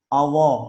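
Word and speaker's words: الله: Misalnya Allah, nah, itu nggak ada huruf W. Yang di sini kan lam. Allah, Allah, kita latih. Bukan Allah. Atau kebaca ada wawu sama lam. Allah. Nah, bukan Allah, tapi Allah. Lidah kita nempel.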